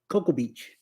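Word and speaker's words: Cocoa Beach: in and and it is pronounced that is pronounced Coco Coco Beach Coco Beach yeah I was was I was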